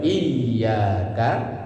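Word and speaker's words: إياك: Wong enggak mau belajar termasuk baca iyyaka na'budu wa iyaka nastain. Pakai tasdid ditekan bacanya Pak iyaka.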